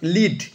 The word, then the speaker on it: lead: লিড, LEAD, লিড মানে হচ্ছে পরিচালনা করা, নেতৃত্ব দেওয়া, প্রধান ভূমিকা পালন করা। তেমনি LEADর অন্য একটা উচ্চারণ আছে, তার অন্য অর্থ আছে। লেড মানে হচ্ছে সীসা, একটা ধাতু। লেড উচ্চারণ করে লেড হয়ে গেল, বানান কিন্তু এক, অনেকে কনফিউজ হতে পারে।